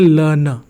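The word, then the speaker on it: learner: तो देखो कितनी इंटरेस्टिंग बात है कि एक वर्ड में दो बार आर आ रहा है लेकिन दोनों में से किसी का साउंड नहीं है। इसे हम क्या पढ़ते हैं? इसे हम पढ़ते हैं लर्नर।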